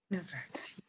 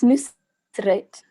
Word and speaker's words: Nusret: Not quite, but nobody can pronounce it, so it's okay. Okay, I'm really sorry about that, though. What is the correct pronunciation? I also thought it was Nusrat. It's Nusret. But I also can't properly pronounce my name. It's like the S, I can't pronounce that properly.